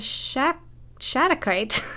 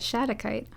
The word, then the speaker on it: shattuckite: and we have the shack shadow kite i almost forgot how to say it shattuckite all right so let's